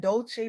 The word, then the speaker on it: Dolce: I'm your host, Dolce, pronounced dolce like sweet softness whispered in French.